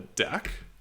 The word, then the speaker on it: deque: And so Python has a built-in queue, and it's called a deque, and that's spelled D-E-Q-U-E.